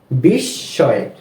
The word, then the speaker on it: বিস্ময়: কি হয় বিস্ময় বিস্ময় এখানেও আমরা দেখতে পাচ্ছি যে এই শব্দটির মাঝখানে দন্তস এর সাথে ম ফলা রয়েছে এজন্য এই দন্তস টা আমরা দুইবার উচ্চারণ করছি ঠিক আছে তাহলে কি হয় বিস্ময় তো দ্বিতীয় নিয়মটা কি বললাম যদি কোন শব্দের মধ্যে বা শেষে ম ফলা আসে যেই বর্ণটির সাথে ম ফলা যুক্ত হলো ওই বর্ণটির উচ্চারণ দুইবার করব যেমন পদ্ম আত্ম বিস্ময়